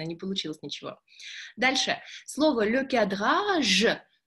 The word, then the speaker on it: le cadrage: Слово le cadrage. Я надеюсь, что все произносят хорошо, и «же» у них яркое «же», и вообще ни капельки не похоже на «ше».